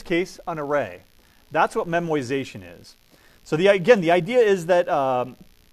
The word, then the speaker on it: memoization: can use what's called memoization that is not a mispronunciation that is not a misspelling it is called memoization right it's not memorization its memorization here's the